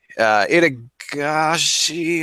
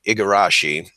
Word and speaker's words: Igarashi: Let me, it's Itagashi. I'm going to say this guy's name wrong.